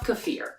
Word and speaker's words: kefir: maybe you've heard Kieffer kefir kefir I don't know there's lots of different ways to say the word however the correct pronunciation when you look it up it says kefir I love kefir I love kefir for